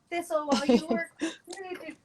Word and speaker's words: thistle: of it is it thistle stencil yes rhymes with whistle thistle look did you see